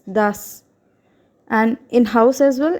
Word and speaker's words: das: So when S comes at the end of a word, so or followed by an umlaut letter or any consonant, then S will be pronounced as S, sir, sir of English.